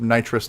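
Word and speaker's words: Nitros9: have a question because what is the official pronunciation of nitrous nine is it trost nine nitros nine night you know night right row is we we called it nitro just lanai like a long low so yeah cuz there's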